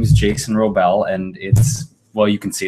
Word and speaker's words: Wrobel: Yeah, so my name is Jason Wrobel, and you can see it's spelled W-R-O-B as in baby, E-L.